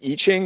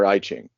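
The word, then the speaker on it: I Ching: lines like the um is it pronounced iching or iing um I've never actually had to say it out loud I think it's iching yeah um so yeah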